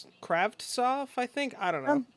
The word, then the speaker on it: Kravtsov: We also had Vancouver Canucks acquiring forward Vitaly Kravtsov. Kravtsov, I think. I don't know. I don't think it's a hard T, or I don't think you pronounce both. Kravtsov.